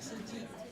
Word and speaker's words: Tzu Chi: Yes, it's Suji. Suji, Yeah, couldn't pronounce yeah.